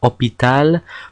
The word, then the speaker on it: hôpital: H is always silent in French. It does exist as a letter, like in the word hôpital, but it's always silent.